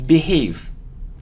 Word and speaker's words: behave: very it's very okay it isn't behave or behave it's B it's behave it isn't climb but it's